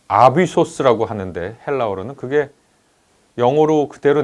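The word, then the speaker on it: ἄβυσσος: 왜 우리 어 아비소스라고 하는데 헬라어로는 그게 영어로 그대로 내려왔죠. 어비스라고 발음하는지 모르겠습니다. 근데 아비소스라고 하는 단어거든요.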